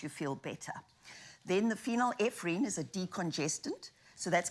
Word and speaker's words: phenylephrine: some benefits with medications such as paracetamol uh phenylephrine I don't know if I'm pronounced that correctly and vitamin C which is